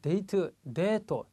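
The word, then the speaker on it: デート: 자, 데이트, 대가 장음입니다. 발음이 깁니다.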